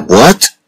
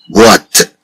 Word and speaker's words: boîte: Bien sûr, avec le mot boîte, on entend le son wa. On dit bois, boîte, boîte, bois.